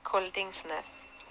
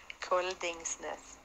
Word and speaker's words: Koldingsnes: All right, so my name is kind of tricky even in Norwegian, but it's basically how you write it. It's Koldingsnes. Koldingsnes.